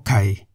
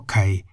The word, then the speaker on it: ขา: An example of a word containing Kor Kai is Ka, meaning leg. Ka is in the rising tone.